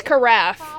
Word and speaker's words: carafe: wine or water interesting it's carafe is how it's pronounced like giraffe that is served in a